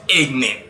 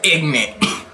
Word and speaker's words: ignant: Ignorant. Not ignorant, has the normal spelling ignorant. I-G-N-A-N-T.